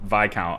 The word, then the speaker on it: Viscount: The S in Viscount is silent. I was thinking that too. I was going back and forth with whether it's Viscount or... So I think it is probably Viscount.